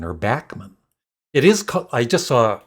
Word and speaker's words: Randy Bachman: Randy Bachman or Bachman. It is. I just saw a video yesterday, and he was saying that it actually is pronounced Bachman, but it doesn't matter.